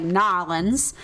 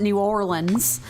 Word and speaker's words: New Orleans: from New Orleans and she pronounces it like nins and I'm from Georgia and I pronounce it New Orleans and I'm like oh my God you can really hear the difference in our accents like in this moment you can hear like nins versus New Orleans like you can